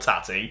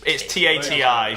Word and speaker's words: Tati: It doesn't sound like a person should be called Tatty. Maybe Tatey. I don't really know, but it's Tati.